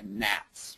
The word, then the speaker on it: GATS: Maine as measured by gats which is a lousy acronym if I do say so myself but uh for Gulf of Maine North Atlantic time series and it rhymes with bats and uh that's about